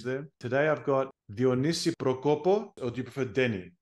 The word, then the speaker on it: Prokopos: The last name Prokopos. Prokopos, awesome. Thank you so much. I've got a. How you write it is how you say it.